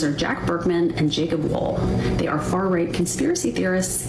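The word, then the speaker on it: Wohl: So that's these two guys, Jacob Wall and Jack Bergman. And Wall is spelled W-O-H-L, and Jack Bergman.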